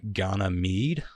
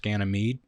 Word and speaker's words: Ganymede: So some of these are tricky, but that made Jupiter's Ganymede, I believe is how it's pronounced, Ganymede.